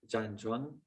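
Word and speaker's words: 站桩: body and standing meditation is in chinese it's pronounced zhang juan it's the known as the foundation of tai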